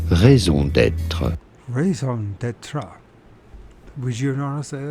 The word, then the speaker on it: raison d'être: How do you go about pronouncing it? For reference, in French we would say it as raison d'être. Raison d'être.